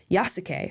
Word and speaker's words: Yasuke: Yasuke, I guess is how you say this guy's name.